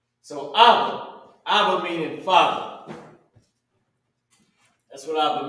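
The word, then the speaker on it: אבא: no right so now how you pronounce it is abba you already know we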